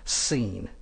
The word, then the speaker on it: Sin: from the Wilderness of sin actually that should be pronounced seene according to the Commandment